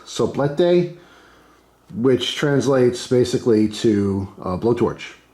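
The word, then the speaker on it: soplete: pronounce anything including English it's spelled s-o-p-l-e-t-e I want to say it's so blete which translates basically to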